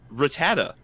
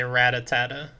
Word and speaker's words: Rattata: good i'm sorry everybody this pokemon is one of the most mispronounced pokemon of all time rattata yeah a lot of people say ratata yeah or ratatat i hate when they end it with a t because clearly it ends with an a uh yeah